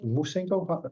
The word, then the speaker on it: Musengo: Musengo, how do you pronounce it correctly? Yes, very good, Yeah. Musengo.